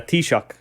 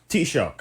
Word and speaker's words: Taoiseach: What was that word pronounced so again? it's a Taoiseach. Taoiseach.